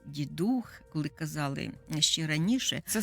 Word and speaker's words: Дідух: такий термін новорічний Дідух Ми сьогодні чуємо наголос Дідух коли казали ще раніше